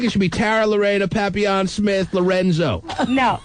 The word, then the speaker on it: papillon: Wait, a little French girl with the papillon and the, I'm sure most people say papillion. Yes, and I commend you for pronouncing it correctly.